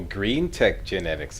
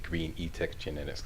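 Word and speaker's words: GreenTech Genetics: Oh, Green Tech Genetics. Okay, okay, I think I was pronouncing it Green E-Tech Genetics. Okay, yep, that was me.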